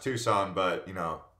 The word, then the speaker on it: Tucson: it it's actually pronounced Tucson but you know tuckson it's got that C in the middle and then if you're